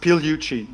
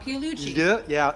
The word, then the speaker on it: Pigliucci: It's pronounced Pigliucci. The G is almost silent. The GL sound, Pigliucci. Lieu is almost impossible for Americans, so go silent.